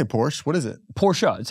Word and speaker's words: Porsche: Porsche well I say Porsche what is it Porsha that's how you pronounce it porsa Porsha and she goes yeah and she goes